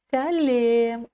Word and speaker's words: сәлем: Мяч, сяч, сялем. Ударение на «е». Сялем. Как пишется, так и читается. Это тоже одно из правил казахского языка. Написано «е», значит читаем «е». Салем мы не читаем.